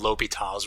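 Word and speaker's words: L'Hôpital: our old methods so this rule is called l'hopital's rule is how you say that i'm sure that you guys will come up with a lot of different creative ways to say that word but that's l'hopital he's a french guy he actually stole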